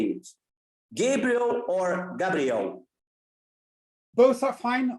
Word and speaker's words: Gabriel: So we also have it in Norway, and then it's Gabriel, the usual way of pronouncing it, but Gabriel is fine. Gabriel is totally fine too.